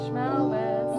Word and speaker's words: Shmelvis: Schmelvis. Rhymes with Elvis.